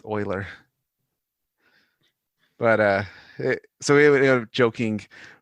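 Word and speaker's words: Euler: math textbook and because you know how to pronounce euklid you assume it's uler and it wasn't until much later in the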